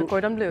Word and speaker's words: Le Cordon Bleu: Le Cordon Bleu.